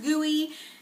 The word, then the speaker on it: GUI: of a funny name it's pronounced gooey if you don't want